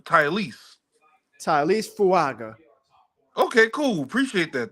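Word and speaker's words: Taliese: And he says, say his name like Tyrese, but with the Tylese. So Tylese.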